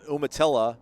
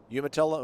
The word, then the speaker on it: Umatilla: time posting i'm from a small town of umatilla is how we pronounce it steph umatilla umatilla no famous people i'm aware of but i